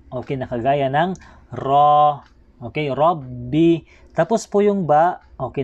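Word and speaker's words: رَبِّ: Sa may Rabbi, ito po yung ra, ay kinakailangan din po nating bigkasin ng makapal ang ra. Okay, kailangan ra, hindi ra. Okay, so babasahin natin ng Rabbi, hindi po Rabbi.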